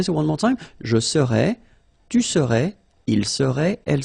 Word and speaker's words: serais: Je serais, tu serais, il serait, elle serait. Alright? So then, final S not pronounced.